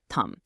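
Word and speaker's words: ทำ: Take the Thai word tum, pronounced thumb.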